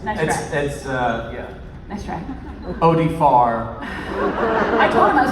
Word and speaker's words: Oded Fehr: end of the couch tried to make me mispronounce his name. It didn't work. Didn't work okay. Yes. Nice try. Yeah. Nice try. Oded Fehr.